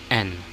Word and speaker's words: 円: But take note, if an American or a Westerner will say yen, that's fine, but if you will go strictly with the correct pronunciation in Japan, it's n.